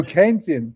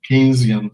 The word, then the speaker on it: Keynesian: Oh, Keynesian. Yeah, excuse me, my pronunciation is bad. Keynesian school of thought that.